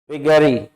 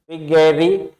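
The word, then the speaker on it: vagary: विगरी विगरी क्या है विगरी दो तरह से इसको प्रोनाउंस कर सकते हैं विगरी या वे गरी एई की धवनी भी बोल सकते हैं और ए की धवनी भी बोल सकते हैं दोनों प्रोनंसिएशन आ जाएंगे तो वे गरी पार्ट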